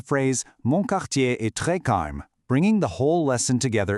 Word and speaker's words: calme: Just remember to give it that very subtle soft uh sound at the end when you pronounce it. Not a hard stop, just a gentle breath to make it sound natural.